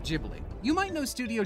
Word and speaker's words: Ghibli: last H who knows it's an Italian word for an African win used by a Japanese studio and I'm American we're all doomed I'm going to pronounce it jibli you might know Studio jibli from their critically acclaimed